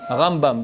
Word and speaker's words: Rambam: dur ambane nacht manning rambam rambam dans le monde ici votre ashkénazes on est arabe avec l'accent tonique au début c'est le my money d'